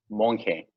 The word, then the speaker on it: Monge: ¿Cómo pronuncia? ¿Monge o Monge? Monje. Monje, ok, está como español.